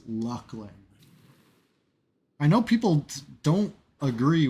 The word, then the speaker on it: Luclin: You saw EQ Dev pronounce it in a video, Luckling.